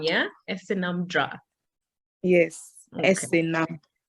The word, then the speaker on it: Esenam: So it's Esenam, yeah? Esenam Drah. Yes. Okay. Esenam. Like Esenam.